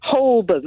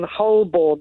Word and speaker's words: Holborn: than h and worse than other people saying holburn as well by the way which you haven't brought up yet holborn which is another bad one the whole born they say well that's that's one of those